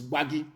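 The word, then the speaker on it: Gbagyi: not guard it is bhagi that is the correct pronunciation because in arusa intonation they cannot pronounce bhagi that was why they named it wary it is not worry it is wagi gba gi very very important that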